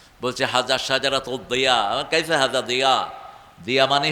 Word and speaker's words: জিয়া: দিয়া মানে হল আলো। জিয়া মানে কি? আলো শব্দটা দাল। দিয়া। কিন্তু বাংলাতে আমরা লিখছি জিয়া। আরবি উচ্চারণের সাথে মিল নেই।